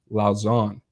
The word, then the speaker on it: Lausanne: It's actually pronounced Lausanne.